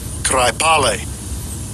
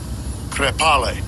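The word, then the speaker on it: κραιπάλη: It is G2897, and I'll give you a pronunciation of it. Strong's G 2897, Kraipale. Thayer's Lexicon, related entry, Krepale.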